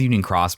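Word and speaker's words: Union χ: It's called Union Cross, but it's spelled Union X. I'm going to just call it Union X.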